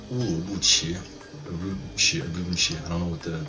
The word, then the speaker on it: Urumqi: It's actually pronounced Urumqi.